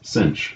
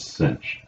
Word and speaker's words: sinh: the Wronskian of y1 equals, how do you pronounce that? That's called cosh. That's the hyperbolic cosine of x. And y2 equals, that's sinh, the hyperbolic sine of x.